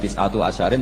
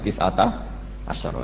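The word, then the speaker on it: تِسْعَةَ عَشَرَ: Tetap bacanya bukan tis'atu asyarin tapi tis'ata asyara.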